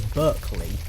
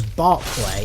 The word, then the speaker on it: Berkeley: do I pronounce Berkeley I pronounce Berkeley as Berkeley because that's how it's spelled I will only pronounce it as Barclay if it's got an A in it as in the bank because it is at